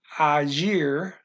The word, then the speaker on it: agir: And acting, agir. That's always a G in this language.